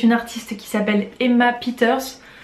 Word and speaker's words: Peeters: artiste qui s'appelle emma peeters peters mais je pense quand on prononce plutôt al anglaise qui est une chanteuse